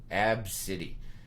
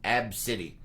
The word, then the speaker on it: Abcde: name, which is pronounced Abcity. The pronunciation, it's in quotes, is capital A, lowercase b, dash city. So, Abcity. So the kid's name is ABCDE, but it's pronounced Abcity.